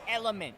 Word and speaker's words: LMNT: Make sure to check out our official electrolyte supplement sponsor in Element. Check them out on Instagram, social media, LMNT, pronounced element.